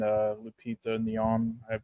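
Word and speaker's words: Lupita Nyong'o: handouts for me mainly Michael B Jordan and Lupita neon that's how you pronounce her name but everyone else I thought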